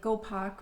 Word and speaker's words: Gopak: pack is actually a it's probably pronounced more like gopak my colleague can tell